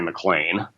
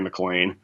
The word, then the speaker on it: MacLane: And the book was published under the title, The Story of Mary McLean.